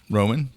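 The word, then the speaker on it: Romijn: How do you pronounce it? Roman.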